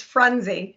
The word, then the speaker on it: Frunzi: You added an extra couple vowels. It's Frunzi. Frunzi.